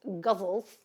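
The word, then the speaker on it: ghazals: Gaselas, I think, is is pronounced in English as gazels.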